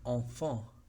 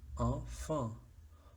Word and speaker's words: enfant: Sí las hay en enfant, porque en es una sílaba, en, y la segunda sílaba es fin, enfant. O, si lo adaptamos para el canto lírico, fa, fa, enfant, pero hay nasalidad.